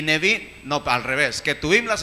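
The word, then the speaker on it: Nevi'im: Torah, Ketuvim y Nevim. Gracias, sí. Torah, Ketuvim y Nevim. ¿Qué quiere decir? La Torah, el Pentateuco, los 5 libros de Moisés. Y ese es Torah. Y Ketuvim, los profetas. Y Nevim, no, al revés.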